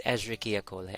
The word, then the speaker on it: Escherichia coli: Basta yung kasi yung tamang pronunciation. It's Escherichia coli.